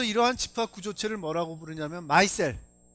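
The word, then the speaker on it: micelle: 자, 그래서 이러한 집합 구조체를 뭐라고 부르냐면 마이셀, 뭐 미셀이라고도 교과서에서 하는데 보통 영어 발음 맞는 건 마이셀이다 하는 겁니다.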